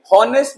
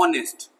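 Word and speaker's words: honest: जी हां प्यारे बच्चों एच यहां साइलेंट है साउंड को पकड़िए होनेस्ट नहीं होता है होनेस्ट नहीं बोल रहा हूं मैं बोल रहा हूं ऑनेस्ट ऑनेस्ट तो साउंड क्या है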